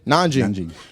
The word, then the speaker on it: Nanjing: We shift our focus to Nanjing. Did I say it right? Yeah. Say it. Nanjing? Nanjing.